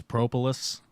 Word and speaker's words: propolis: Do you want to learn how to pronounce propolis? Yeah. Here we go. Welcome to the show. Propolis. It's propolis. Okay, you got it.